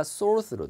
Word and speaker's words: sort through: 이 T 사운드가 sort through가 아니라 soar through.